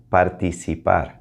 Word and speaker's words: participar: puedo participar puedo participar remember to really focus on the vowels puedo participar especially that i that heart e participa so that was super